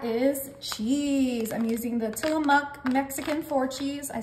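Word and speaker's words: Tillamook: is and that is cheese I'm using the tillamuk Mexican four cheese I said it right this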